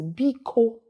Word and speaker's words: biko: Let's pronounce that together. Bia. Another word that is famous in Igbo is biko, magic word.